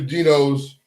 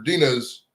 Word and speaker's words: Dino's: if you're in Cleveland go to Dino's or Dina's dinos he said it right the first time we'll be at dinos